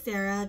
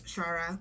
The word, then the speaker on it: Shara: you pronounce the name I thought it was Sarah just spelled uniquely but no it's Shara and I am about